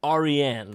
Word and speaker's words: Aryan: And it is a Persian name. It's pronounced Aryan.